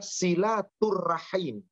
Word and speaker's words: silaturrahim: pengikutnya hingga Yaumil akhir silaturahim di dalam bahasa Arab terdiri dari dua kata Silah dan arrahim maka ejaan dalam bahasa Arab yang benar itu adalah silaturrahim Silah itu mempersatu mempererat